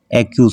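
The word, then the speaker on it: accuse: এরপর আরেকটা বাক্য নিয়েছি অ্যাকিউজ, অ্যাকিউজ, অ্যাকিউজ কেন হয়েছে, কারণ সামনে এ আছে বা ভাওয়েল আছে, তাই দুইটা সি থাকার কারণে একটার উচ্চারণ করব অ্যাকিউজ।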